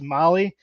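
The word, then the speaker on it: Mahle: of our podcast listeners Molly is spelled m ahle e I sure do love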